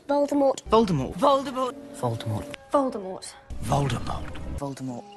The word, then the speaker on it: Voldemort: The true pronunciation drops the T at the end of the name in true French fashion for the pronunciation of Voldemort.